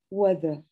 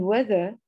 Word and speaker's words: weather: Sometimes EA makes different sounds. How do you say these words? Head, weather. As you can see, the word head and weather are short E.